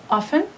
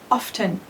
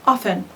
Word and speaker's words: often: Always, usually, often. Some people pronounce it often. It's not wrong, but the most common is often. So we don't pronounce the T.